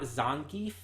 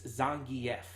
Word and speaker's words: Zangief: actually only recently found out we've all been pronouncing wrong all these years it's not zonkief it's Zangief because it's actually said in the game that